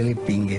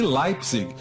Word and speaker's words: Leipzig: Para a professora Simone, todo mundo pronunciava de forma errada o sobrenome de Adolfo. O correto seria Leipzig. E Leipzig seria um sobrenome de fantasia, inventado por alguém com algo a esconder.